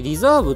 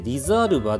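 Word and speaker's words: Riserva: さっきリザーブって読みましたけど、リザーブじゃなくてリザールバでした。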